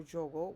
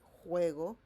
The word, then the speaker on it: juego: We don't say juego or jogo. We say juego.